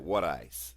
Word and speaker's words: water ice: You got to say it right, wooder ice.